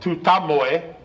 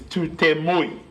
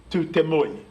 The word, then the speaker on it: Tutamoe: It's a similar situation with the mountain that they call Tutamoe over in the Dargaville area, where the actual pronunciation of that name is Tutemui. Tutemui is its proper name.